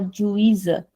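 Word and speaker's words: juíza: But in the next one the Z is coming in the middle of the word. So it has a default pronunciation there.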